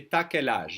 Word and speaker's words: t'as quel âge: When the French speak faster, which is most of the time, they will say t'as quel âge? You have. Will be pronounced ta.